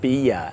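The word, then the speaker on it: bi-a: It's pronounced bia and is derived from the word billiards.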